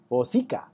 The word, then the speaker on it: Vosika: And I tried to pronounce her last name, and I did it wrong. I thought there's only two ways. Vosika, Vosika, but it's Vosika.